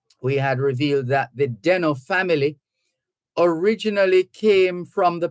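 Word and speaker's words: Desnoes: spelled d-e-s-n-o-e-s but pronounced denno it's a French name the most famous Deno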